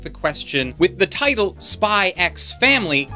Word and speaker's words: Spy x Family: question with the title spy x family do you pronounce the x no you don't if you managed to